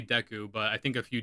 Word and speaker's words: Deku: Also, deu nuts. I I my entire life I call them deu nuts. Apparently, it's Deku. So, I've been trying to say Deku, but I think a few deus might have slipped in the video.